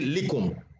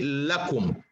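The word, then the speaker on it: لكم: little suli okay so anytime it's attached to a pronoun it's pronounced la but if it's attached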